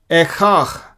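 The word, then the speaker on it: איכה: इसको हम हिब्रू में बोलेंगे एखाख, एखाख, ए ये दोनों लेटर्स ए हो जाते हैं, एखाख।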